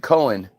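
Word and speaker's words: Conn: pron oh pronounced Cohen c o NN is pronounced Cohen it's co NS two NS it's co Cohen in no don't you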